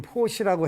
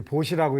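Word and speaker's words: 布施: 그게 뭐냐면 이제 이게 베풀 포자고 원래 한자로는 포시라고 해봤는데 어느 때부터 이제 보시라고 읽어서 원래는 포자인데 보시라고 일반적으로 이제 표현을 하지요.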